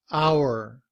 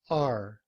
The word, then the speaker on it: our: our looks like this hour hour it's our car but in reduced form we don't say our we reduce it to r and we say it's